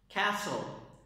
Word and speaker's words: castle: Castle. Castle. Castle. There is no T.